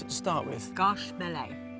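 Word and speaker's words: Gâche Mêlée: How do I pronounce it to start with? Garche Mêlée. Garche Mêlée.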